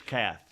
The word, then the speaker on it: Kath: breathed his last Terry Keith picked up a nine millimeter pistol leaned back in a chair and said don't worry about it it's Kath what Terry Kath not Keith oh it's pronounced cat it's spelled k-e-iitf and